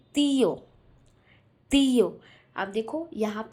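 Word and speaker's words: tío: तो जब भी आपको ये वर्ड किसी भी स्पेनिश वर्ड में दिखे तो उस वर्ड को हमें स्ट्रेस करना है। क्या करना है, स्ट्रेस करना है और थोड़े लाउडली बोलना है, ठीक है। तो यहाँ पे तीयो लिखा हुआ, तीयो, तीयो, ठीक है।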